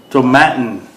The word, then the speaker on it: Tomatin: right guys i'm back to matin it rhymes with satin it even says it